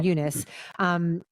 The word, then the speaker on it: Eunice: And then you say Fernanda Torres is Eunice is how they pronounce her name, Eunice.